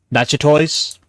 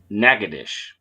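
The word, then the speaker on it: Natchitoches: at that one and figure out how to pronounce that one let's see it's French so we obviously have to be snoody yeah Nota toys not quite not toess close notah you're getting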